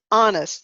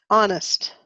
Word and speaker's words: honest: I have a cough o-u-g-h cough foreign is honest the age is silent honest honest good now it's your turn to read